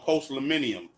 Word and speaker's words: postliminy: Yeah, that the concept that you're referring to is called post-millennium. It's spelled POSTLIMINY.